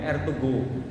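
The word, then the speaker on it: Ertuğrul: Kalau kita mau lihat itu ada film namanya tulisannya Ertugrul. Kalau bacanya Ertugrul.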